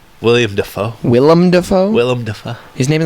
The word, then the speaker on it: Willem: his name William Defoe Willem Dafoe Willem his name's not Willie yum it's a little Willow Willy Defoe it's not William it's Willem Will I Am the Defoe